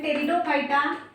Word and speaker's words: pteridophyta: That is thallophyta, which is called as algae, then your bryophyta, then pteridophyta, here P is silent, then gymnosperms and angiosperms.